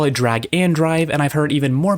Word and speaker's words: Drag x Drive: The game is read as Drag X Drive, but it's supposed to be pronounced Drag and Drive.